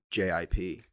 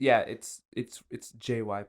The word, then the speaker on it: gyp: Oh, I'm saying like JIP, like to trick. It's JYP. It's always pronounced JYP. It's always JYP.